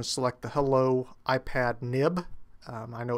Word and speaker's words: XIB: select the hello iPad nib. Um, I know it's spelled XIB, but if you've been programming with Apple resources any length of time, you know that that's generally pronounced NIB.